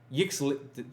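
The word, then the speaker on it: Yixlid: Yixit Jailer, that's how you pronounce it.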